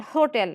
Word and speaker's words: hotel: He lives in an hotel. Here, second syllable, right? Hotel. We are stressing till.